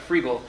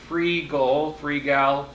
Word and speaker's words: Freegal: So if you haven't heard of Freegal, it's spelled like it sounds. You just don't know how to say it. F-R-E-E-G-A-L. Yes. It's can supposed to be frugal, like frugal.